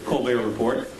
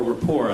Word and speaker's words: Report: frequent guest on the co report but uh or Rapport I guess is the proper pronunciation uh we're delighted that